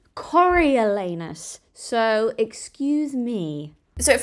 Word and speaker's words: Coriolanus: just playing Cor snow I think that's how you say his name coralus it's a weird name sorry if I got it wrong apparently it's actually cor elanus so excuse me so